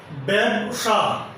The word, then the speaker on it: ব্যবসা: যেমন ব্যবসা বা ব্যবসা, এখানে যে জফল আছে এই জয়ের উচ্চারণ হবে এর মতো। ব্যবসা।